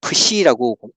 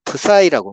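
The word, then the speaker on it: ψ: 우리가 헬라어 배울 때 공부할 때는 푸시라고 읽는데 영어권 사람들은 C를 I로 읽잖아요. 그래서 푸사이라고 말해요. 영어권에서는 푸사이라고 해요. 우리 책에는 푸사이라고 되어 있어요.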